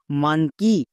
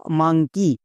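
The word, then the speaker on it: monkey: দেব তাহলে হস্তিকার সাউন্ড করে দাও এবার পুরোটার উচ্চারণ করো এম ও এন কে ই ওয়াই মানঙ্কি বা মাঙ্কি যেটাই বলতে পারো ভুল হবে না তাহলে মানকি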